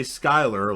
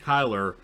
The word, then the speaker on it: Kyler: hawk tells kyler and i want to say skyler like skylar and breaking bad but i said it right kyler that he keeps pulling